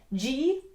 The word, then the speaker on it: gyrle: The word girl comes from a word that sounds just like girl, but is spelled a little differently. It's spelled Gyrle.